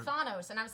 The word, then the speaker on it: Thanos: greek i learned that thanos comes from the greek word thanatos death so then i change